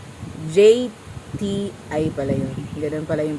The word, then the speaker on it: JTI: So pagbalik ni GTI JTI pala yun. Ganun pala yung pag-pronounce.